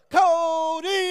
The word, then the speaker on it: Kody: Cody! Everybody say, oh! Say, oh! Say, oh, oh! Say, Cody! Now scream! Merci pour cette spontanéité, vraiment. Je ne m'y attendais pas du tout. Mon nom est Cody, pour ceux qui ne me connaissent pas, et